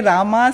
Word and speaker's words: राम: तो जब मैं इंग्लिश का रील्स बनाती हूँ, कभी कभी मुझे कमेंट्स मिलते हैं, डोंट से रामा, से राम।